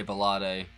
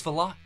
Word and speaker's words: Valotte: how to pronounce this cuz I totally was going to say vade but it's vot cool hi guys welcome